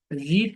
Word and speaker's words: read: form হচ্ছে place okay রিড মানে পড়া পাস্ট ফর্ম কি রিড পাস্ট পার্টিসিপল ভার্বের ফর্মটা একই বাট উচ্চারণটা ভিন্ন রেড উচ্চারণটা হ্যাঁ রিড রেড রেড ওকে